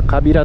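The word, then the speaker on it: 川平: 川に平らと書いて川平と書いてカビラと読みますね。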